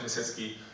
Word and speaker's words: Piasecki: My name is Piasecki, which rhymes with jet ski.